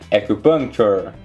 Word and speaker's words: acupuncture: Acupunk, acupuncture, acupuncture. Não pronuncie o O e nem o L nessa palavra.